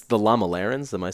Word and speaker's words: Lamalerans: something in the book about how it's the Lama Larenz am I saying it right correct okay so